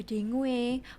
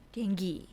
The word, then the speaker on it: dengue: Itu kan tulisannya Ada dengue banyak orang bacanya mungkin dengu dengue tapi kalau secara internasional kita bicaranya denggi denggi Wah saya salah pelapalan